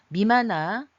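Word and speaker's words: 任那: 보시면 일본 서기에서는 일본 미마나 임나라고 읽지 마시고 미마나라고 읽어야 된다고 말씀드렸죠.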